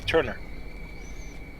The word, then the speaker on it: Thoene: Like my family Scottish name is spelled Thoene, but so it's like Thune, yeah. But when they pronounce it, it's actually Turner.